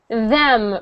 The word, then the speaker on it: them: Them. Right? Your tongue is between your teeth.